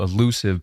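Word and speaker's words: allusive: So elusive, pronounced the same way as elusive with an E, means metaphorical or symbolic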